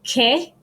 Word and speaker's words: que: It's pronounced like the English K sound in a word, k sound. It's always followed by the letter U, just like in English. So, example, que. So it sounds like a K, and queso.